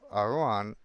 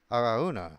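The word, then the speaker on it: Araunah: But the king replied to Aruan. Aaruna. Aruna. My bad. I been pronouncing your time your name this incorrectly this whole time.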